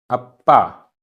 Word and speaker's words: अप्पा: अप्पा, आधा पा पूरा पा, अप्पा।